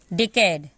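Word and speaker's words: decade: ई का कोई उच्चारण नहीं होगा किसी, क्योंकि मैंने अभी बताया इसमें कि किसी भी वर्ड के लास्ट में अगर होगा तो ये साइलेंट होता है।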